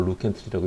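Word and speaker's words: Lew Cantley: 안녕, 나는 PI3 카이네이즈를 처음으로 발견한 루이스 켄틀리라고 쓰고 루 켄틀리라고 읽는다.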